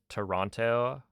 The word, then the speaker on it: Toronto: You know that Toronto or Toronto has, like... quite a few letters in it that, you're not supposed to really pronounce. Toronto. Where's the other T? Where did it go?